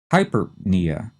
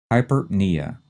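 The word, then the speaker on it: hyperpnea: and then we have hypernia again like the previous two the first two syllables are run together fast the stress is on the knee hypernia and what would that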